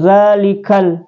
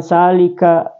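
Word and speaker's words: ذلك: tanda sukum ya Kal jadi bacanya zikal bukan salika salika kitab ya dalikal ya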